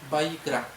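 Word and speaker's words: ויקרא: levítico es el que se pronuncia en el original como Buy crack y significa y llamó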